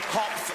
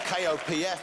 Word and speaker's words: Kopf: Kopf, spelled K-O-P-F, but I've been told not to pronounce the letter P.